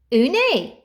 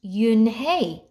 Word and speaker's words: Unhei: "Une?" the girl asked, scrunching up her face. Une," some kids chanted. No, Yun Hai corrected. It's spelled Unhei. It's pronounced Yun Hai.